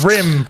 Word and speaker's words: Rim: Remy budge flashbacks me it's Rim it's not Remy it's Rim look at it though it's totally Ry BGE yeah it's pronounced rim rim BGE I actually have